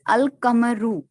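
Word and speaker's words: القمر: No such assimilations takes place with the lunar letters. Example, Al-Kamaru, the moon, is pronounced as Al-Kamaru.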